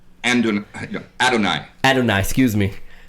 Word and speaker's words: Adonai: Andalai, off of Adonai? Yeah. Am I pronouncing it wrong? Adonai.